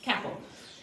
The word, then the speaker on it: capall: The Gaelic name for a horse is capel, I think it's called pronounced capel.